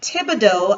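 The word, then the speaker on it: Thibodeaux: Again, I'm Thibodeau, and Thibodeau, I know, is a mouthful. It is spelled T-H.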